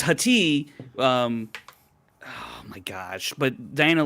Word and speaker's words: Hati: I don't want to call her Hottie, but Hottie. It's Hati. Oh my gosh! But Diana Lee Inosanto is Morgan Elsbeth, and it's Hati. But that's how you pronounce it. Sati, yeah, Hati.